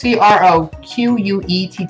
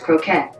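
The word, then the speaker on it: croquette: find delicate fried cheese hey Google how you pronounce CR o qu et te I think it's kosher quick that's pronounced croquet croquet a type of slice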